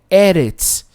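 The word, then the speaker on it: ארץ: Interessante que a palavra terra em hebraico é eretz, mas como tem um artigo aqui, o som muda da segunda letra aqui. Então, se for uma palavra terra, vai ser eretz.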